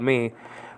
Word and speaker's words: mu: Metera for mother is spelled out mu, eta, tau, epsilon. Nowadays called tough, by the way, and eta, and then the mu is called me. But this is biblical Greek that I'm talking about. Mu, eta, tau, epsilon with